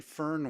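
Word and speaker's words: Föhn: and got the answer Fern phone winds are actually Fern winds there's no R in the word though my name's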